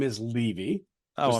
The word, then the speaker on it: Levy: Yeah, by the way, my last name is Levy.